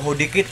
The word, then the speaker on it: HODEKT: Hodikit or Hodik. Silent T daw to guys.